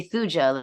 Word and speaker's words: Thuja: excuse me now thya you're pronouncing the J as if it's Spanish it is a j right like T huj thja you want to say thuja like thones or something I just